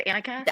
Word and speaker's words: Annika: Yeah, I was just thinking like a, like. I did too, but it's Annika.